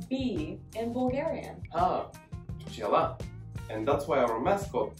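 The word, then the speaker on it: пчела: Pchela.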